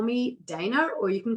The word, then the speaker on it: Dana: My name to Americans is pronounced Dana, but in Australia we actually pronounce it Dana.